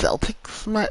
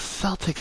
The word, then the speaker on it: Celtic: I can understand the pronunciation for the Boston Celtics, but the origination is Celtic.